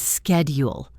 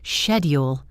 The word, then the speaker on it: schedule: In American English, it is schedule with a k sound. In British English, it is often schedule with a shh sound. Both are correct.